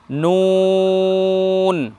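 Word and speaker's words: ن: দুইটা বর্ণে সদাসর্বদাই ঠোঁট গোল করতে হবে, বর্ণ উচ্চারণ করার সময় এটা মাথায় রাখতে হবে, যখন আমরা বর্ণ উচ্চারণ করব তখন নুন, দেখুন নুন এবং ওয়াও, নুনকে উচ্চারণ করব তখন আমরা ঠোঁট গোল করব নুন ওয়াও।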